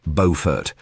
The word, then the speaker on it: Beaufort: Beaufort, North Carolina, pronounced Beaufort. Don't mess it up, locals will correct you.